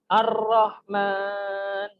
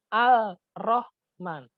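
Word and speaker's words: الرحمن: ada tangga bacaan tas-tas jadi bacanya bukan Al Rohman tapi ar-rahman alamnya tidak dibaca tapi dilebur dimasukkan kepada huruf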